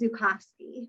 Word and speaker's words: Zukosky: And so I think there's a kind way to say, actually, it's Zukowski, right? People mispronounce my name all the time.